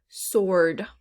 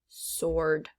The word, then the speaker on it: sword: the w is silent sword once again that w is silent sword all right let's go